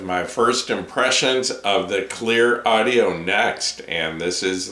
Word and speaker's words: Cleer: here tonight with my first impressions of the clear audio next and this is the first headphone